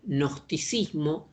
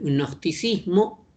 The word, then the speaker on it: gnosticismo: Cuando digo transversal, quiere decir que este pensamiento, que es el gnosticismo, se escribe con G, pero es una G que apenas se pronuncia, el gnosticismo, es una orientación del